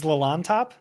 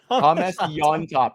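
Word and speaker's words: Llontop: time humus on top y top that's a that's a almost a silent Double L right there but you pronounce it like a y y top do you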